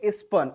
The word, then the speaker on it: spurned: किया, तो उसको बोलेंगे स्पन। स्पेलिंग देखिएगा, SPURNED, आर प्रोनाउंस नहीं करते, स्पन हो जाएगा।